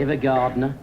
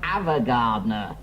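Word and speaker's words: Ava Gardner: Evergardner. It's pronounced Avagardner.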